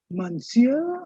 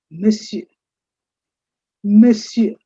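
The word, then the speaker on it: monsieur: nagri script which says miss you the stress is on the first part of m you say miss you miss you and that means mister or Sir when you say Mr.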